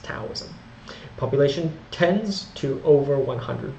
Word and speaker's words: Daoism: and Chinese folk religion it was actually pronounced taism population tends to over